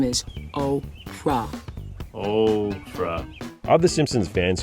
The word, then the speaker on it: Oprah: before trying in vain to get Homer to pronounce her name correctly. Hey, Homer. My name is Oprah.